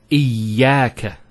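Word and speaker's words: إيّاك: Iyaka. Notice the ya gets a double vowel because of the shadda there.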